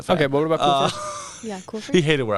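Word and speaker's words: Culver's: Kohlfers. Like as in like that's a cool fur coat.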